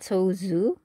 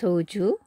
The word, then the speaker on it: soju: And then we go into Soju. You know, it's actually in Korean, it's not Soju, it's Soju, like a more of a J sound.